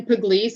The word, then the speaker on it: Pugliese: address there and and again pronounce your name so we can know how to dance to say it right you bet it's pugliese spelled p-u-g-l-i-e-s-e from emeritus